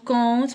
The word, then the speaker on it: compte: compter, donc compte ما كنقراوش بي, compte ما كنقراوش بي.